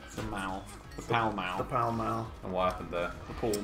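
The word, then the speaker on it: Pall Mall: it's a British mall it's after the correct pronunciation you mean the shopping center the shopping center and mouth the foul mouth pal mal and wife and their full moon well I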